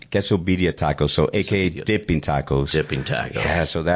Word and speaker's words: Quesobirria: So, it's going to be pronounced quesobedia tacos.